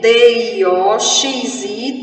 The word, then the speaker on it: dioxi: Dioxi, o X com som de KS, KSI, são 7 letras e 8 fonemas.